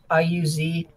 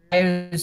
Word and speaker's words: Iuz: the Kingdom of Iuz, I-U-Z, us or whatever. My pronunciation is Iuz.